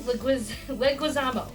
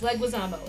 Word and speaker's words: Leguizamo: It's John Leguizamo. I love Leguizamo. I've been pronouncing that name wrong my entire life. It's not Leguizamo. It's Leguizamo. It's John Leguizamo.